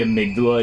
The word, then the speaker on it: amygdala: The game pronounces it amygdala, but basically the amygdala is a structure in your brain. Like, it's a real thing, and it's actually pronounced amygdala, so that's how I pronounce it.